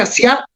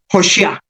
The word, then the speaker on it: Asiá: Yetzirá Y o G y luego asiá, que no empieza con A, sino con O. Realmente asiá podríamos pronunciarlo hoshiá, como el profeta.